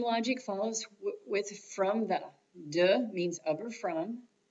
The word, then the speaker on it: des: Des is pronounced de, and it means to the when the noun that follows is plural.